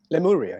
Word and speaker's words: Lemuria: I don't know how to pronounce the name, Lemuria. Lemuria, yes.